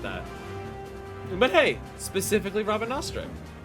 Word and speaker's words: Rabanastre: But hey, specifically Rabanastre. It's pronounced Rabanasta, by the way.